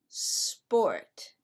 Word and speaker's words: sport: about this one sport you mean it's not a sport no it's not a sport it's sport why because we do not use the letter e as a help to pronounce the letter s when s is the first letter of the word got it are you